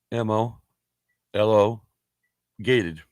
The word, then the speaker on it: homologate: I think the H is silent. Homologade. Homologate. Mm-hmm. Fuck, just turn the sound on. Homologate. See? Homologate. I knew that fucking H was silent.